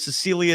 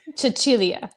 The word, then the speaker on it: Cecilia: Cecilia Zendelini, hope I pronounced that right. So, that's three. Chichilia.